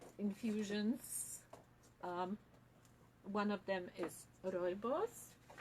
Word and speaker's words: Rooibos: One of them is Rooibos. It's called caramel Rooibos because it's flavored with caramel. We call it otherwise red tea. It's pronounced like Roy and his boss. Roy boss.